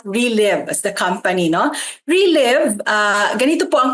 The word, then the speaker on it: Reliv: No, relive. Ah ganito po ang pag-pronounce.